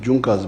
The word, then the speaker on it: Junker: It is written in Junkers, but they pronounce it as Junkers.